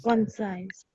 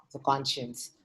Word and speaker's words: conscience: Consequence time. हाँ, पर इसका मतलब consequence नहीं है. Pronunciation is wrong. Conscience. Conscience भी नहीं कहते. क्या कहते हैं? Concise. Conscience. And नहीं. Conscience. Conscience. Conscience. Conscience. So conscience.